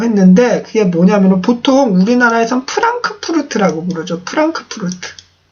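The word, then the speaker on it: Frankfurt: 어려우실 수 있는데 한번 찍어보세요 와 그래서 제가 프랑크푸르트 암 마인 에 대해서 조금 말씀을 드리겠다 라고 했는데 그게 뭐냐면 보통 우리나라에서 프랑크푸르트 라고 무너져 프랑크푸르트 푸 란 크 푸르트 라고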